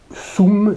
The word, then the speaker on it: sum: dure de même que le soum se prononcer c'est parce oms et soum c'est à dire avec un goût donc jeu qui traduit